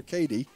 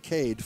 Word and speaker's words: Cade: His first name is K-A-D-E, so it's Cade or Cady. I think Cade Ford.